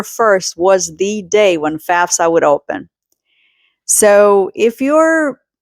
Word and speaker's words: FAFSA: FAFSA. I hear a lot of people pronouncing it FASFA. It's not FASFA. It's FAFSA.